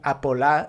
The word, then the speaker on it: Apolá: So el polo, la Soleá Apolada, kind of to match el polo, became Apolá in Andalusian pronunciation.